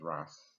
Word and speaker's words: RAS: than the rise now the rust pronounce Ross don't add any more Aces to it as in short for a Rastafari is a Workhorse just